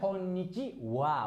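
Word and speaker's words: こんにちは: Jadi ini cara bacanya wa. Jadi teman-teman tolong langsung hafal aja konnichiwa walaupun tulisannya H.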